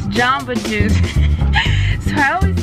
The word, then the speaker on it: Jamba Juice: it was Jumba job but you always say jump oh it's Jamba Juice so I always say jump I think it says Jamba Juice J am be a jumbo jumbo juice we're